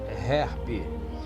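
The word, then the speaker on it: HAARP: HERP, H-A-A-R-P, pronuncia-se HERP.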